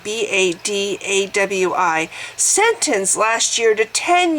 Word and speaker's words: Badawi: One such case is that of the jailed blogger Raif Badawi. I'll have to spell his last name. His first name is spelled R-A-I-F, last name B-A-D-A-W-I, sentenced last year to 10 years in jail and 1,000 lashes for insulting Islam.